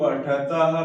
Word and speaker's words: पठति: पठति पठ, यहाँ दीर्घ इकार नहीं करना आपको, उच्चारण में थोड़ा समय लय बनाना चाह रहा हूँ, इस वजह से दीर्घ ईकार आपको सुनाई दे रहा होगा, लेकिन यहाँ पे प्रयास करेंगे कि ह्रस्व ईकार का ही उच्चारण हो।